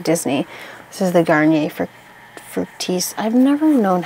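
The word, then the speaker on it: Fructis: this is the Garnier frutis I've never known how to say this I used to say fructus when I was like eight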